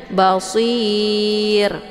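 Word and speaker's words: بصير: hurufnya adalah ya maka bunyi R ini menjadi tipis jadi bacanya Basir ya tipis Jangan dibaca Basir itu bacaan yang salah karena ra ini tidak boleh dibaca tebal tapi harus ditipiskan Bashir ya kemudian Afala La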